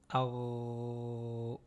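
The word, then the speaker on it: ر: Donc, on a le akh et le ar. Ce qui différencie ces deux lettres-là, c'est le passage de l'air au niveau de la gorge.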